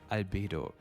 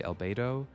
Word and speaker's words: Albedo: Everyone's favorite chalk prince, and probably the only one in Teyvat, Albedo. Now, most people say albedo, and I think that's perfectly valid. I think in German we would say something like albedo, albedo. And if you want to